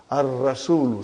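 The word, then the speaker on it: الرسول: Ar-rasulu, see, sun letter, ar-rasulu, and then al-ka'batu, and then al-ismu, al-ibnu, you can say.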